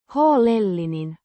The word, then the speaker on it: huolellinen: Pronounced. Huolellinen. With the stress on the second syllable.